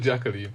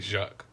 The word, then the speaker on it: Jacques: No, it's Jack. But it's spelled like... I might have said Jacqueline, but it's spelled the French way though, innit? So it's like Jacquees. So Jacquees. But it's like... No, it's like Jacques.